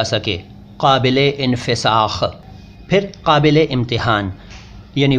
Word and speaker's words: इन्फ़िसाख़: फिर काबिले इन्फ़िसाख़। उच्चारण ख़ास तौर पर सुनिएगा, तलफ़ुज़ पर ध्यान दीजिएगा। काबिले इन्फ़िसाख़ मतलब वो वचन, वो